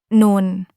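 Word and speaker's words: نون: Today, we're moving on to the next letter, non. We'll look at how it sounds, how to pronounce it correctly, and go over a few easy examples to help you remember it.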